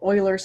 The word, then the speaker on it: Euler: It's called Euler's number, even though it's spelled Euler.